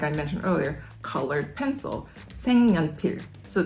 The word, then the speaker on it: 색연필: 색연필, 색연필. This word means colored pencil. The first syllable, 색, is color, and 연필 is pencil. But when you say it together, it's 색연필, 색연필, 색연필.